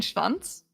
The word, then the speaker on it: Schwanz: So many of the letters are silent. And Schwanz? No. Because you still have the sh sound for the CH. Like Schwanz.